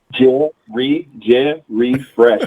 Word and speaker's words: Jerry Fresh: That's 3 syllables. Jerry and Fresh. Jerry Fresh.